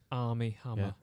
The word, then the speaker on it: Armie: three times that army army hammer is the name of the actor yeah army they are mie AR M ie ie yeah pronounced like the army yeah army yeah what a name